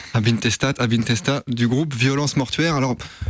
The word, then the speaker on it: Ab Intestat: C'était Post Hell, extrait de l'album Abintesta, puisqu'on est puriste de la langue, on prononce pas le T. Abintesta du groupe Violence Mortuaire.